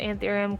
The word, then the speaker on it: anthurium: have the cirritus mirabellas this is a anthurium I believe you pronounce it antharium Quest Morel lens it's